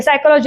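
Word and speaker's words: psychology: वेगळा सायकॉलॉजी for example त्याच्यामध्ये पी येतो पण आपण उच्चार करत नाही सायकॉलॉजी असं म्हणतो पण मुलं करताना आहे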